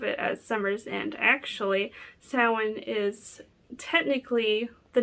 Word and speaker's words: Samhain: whole lot about samhain today actually i kind of just want to